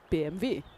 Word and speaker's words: BMW: And a W is pronounced like a V like in BMV or bad Venber.